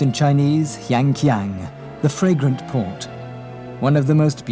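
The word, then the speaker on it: 香港: Hong Kong, pronounced in Chinese, Yanqiang, the fragrant port.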